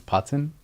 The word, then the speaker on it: Putan: So my family's always pronounced it as Putan. Putan. And it sounds very Aussie.